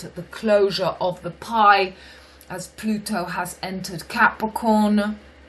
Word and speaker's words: paille: It's pronounced pie.